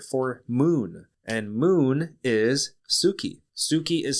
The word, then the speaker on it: tsuki: the Japanese word for moon and moon is Suki Suki is spelled TS u k i and Suki is